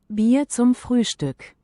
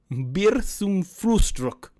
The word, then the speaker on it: Bier zum Frühstück: Here's how you pronounce it. You're not going to be able to hear it, but the chat will. Bier zum Frühstück. Bier zum Frühstück. Bier zum Frühstück.